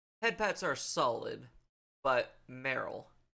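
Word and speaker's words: Meryl: pets are solid but Merl it rhymes with Cheryl so things to cook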